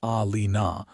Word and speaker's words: Eilina: "Eilina," she said, pronouncing it Alina with the emphasis on the second syllable.